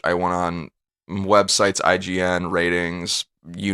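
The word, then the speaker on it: RTINGS: looking for new tech it's called ratings but it's spelled r t i n g s dot com that's ratings i call it and it's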